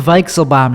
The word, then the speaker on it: Weichselbaum: show it's the tim weixelbaum show that's how you say it v it's a v sound in german i learned a couple